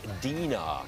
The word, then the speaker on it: Dina: I think this is pronounced the Dina Collection. I believe that's correct. All right, we'll go with that.